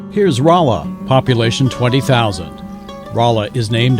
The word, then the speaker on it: Rolla: Here's Rolla, population 20,000. Rolla is named after North Carolina's capital, Raleigh, but spelled in a more phonetic way as North Carolina's locals pronounced it at the time.